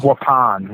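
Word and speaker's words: Waupun: How do you pronounce this? I I'm I'm good with English, but is it Wapan Correctional? Wapan.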